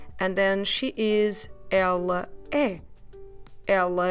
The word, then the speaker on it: ela: And the word for she, ela, you clearly pronounce both syllables with open sounds.